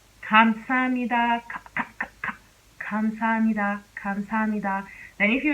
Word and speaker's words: 감사합니다: But if you were to pronounce this word using the real K sound, it will sound like this. 감사합니다, 감사합니다, 감사합니다.